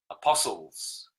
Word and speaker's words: apostles: Silent T is very telling. Apostles.